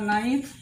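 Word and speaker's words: knife: will be serve এবার নাইফ এখানে কে লিখেছে কে এর উচ্চারণ নেই কেন না এন এর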